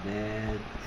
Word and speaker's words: natural: 근데 조심해야 될 게 이 A의 발음 가지고 시험 문제 많이 나옵니다. 그러니까 얘는 A가 무슨 말인데요? A. A 발음 나죠. 그렇죠? Nature죠, Nature. 근데 이 A의 발음은 발음 기호는 이렇게 쓰는데요. 오케이. 뭐 우리나라 말로 굳이 쓰자면 이런 발음입니다. A 발음, A 발음. 그래서 Natural이죠, Natural.